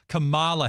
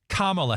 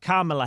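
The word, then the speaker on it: Kamala: you don't you put put the emphasis on the first syllable and not the second a lot of people have been calling her Camala Harris so inste it's carala Harris carala Harris carela Harris that's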